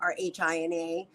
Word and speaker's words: Rhina: And of course, you can follow me on all social media platforms, Rhina, and my name is spelled Rhina. The H is silent.